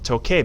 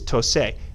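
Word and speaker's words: toqué: on is this one, toque, because if we have the C, it's tose. But all these C's here come before an A or an O, and they're always going to maintain that k sound that you see in the infinitive.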